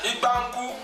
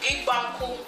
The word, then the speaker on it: Imbanku: Ibanku. Baby, you're not even saying it right. With your Okay, sorry. accents. Imbanku. I Okay. just not saying it Yeah, right. she said it right.